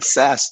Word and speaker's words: Sass: Is that how you pronounce it? Yeah, that's how you pronounce it. Sass, just like it sounds.